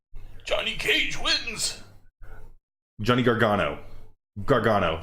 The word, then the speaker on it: Gargano: Gargano, say it right.